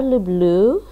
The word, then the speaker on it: люблю: The conjugation is я люблю. Stresses on the, for that one, the stress is at the end, the last syllable, я люблю. But the rest, the stress is on the first.